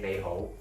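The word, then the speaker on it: 你好: So, for example, when you greet people, you say "ni hao" in Mandarin, but in Cantonese we say "nei hou."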